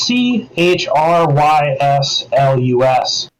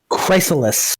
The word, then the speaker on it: Chryslus: It's c h r y s l u s. Chrysalis. Chryslus. Chryslus. Yeah, it's like it's almost like Chryslus. Yeah, it's it's it's like a play off of Chrysler, right?